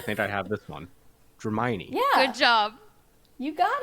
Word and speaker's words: Dramione: I can't pronounce anything, but I think I have this one. Dramione.